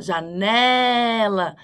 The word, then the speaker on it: janela: casa dela você vai falar janela e não janela ou janella vai falar janela a mais forte é o